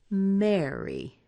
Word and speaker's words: marry: Now, I say marry. I use kind of this E sound in there, marry. And it rhymes exactly with my name, which is. You can hear that E in there.